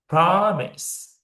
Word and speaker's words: promise: It doesn't stress on the second syllable. It will emphasize in first syllable. Promise.